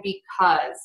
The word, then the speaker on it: because: are those these and because those these cause because those are all pronounced with the z sound at the end yeah and those are